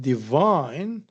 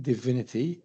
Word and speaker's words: divine: So here we have divine. So divine it is the second stress vine that bears uh this syllable bears the stress. But if we add it as in divine divinity right divine divinity we find that uh the stress changes. So we have divine divinity the change level uh um the